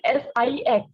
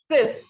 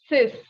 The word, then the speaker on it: six: we have six so here it is written s i x you may pronounce it as six no be careful sex is in english okay in french it is cis what is it sis okay next one is seven so it is